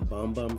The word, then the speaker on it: Bum Bum: to never stop selling that but yeah the bum bum fragrance that I sold last summer um pronounce boom boom instead of boom bo boom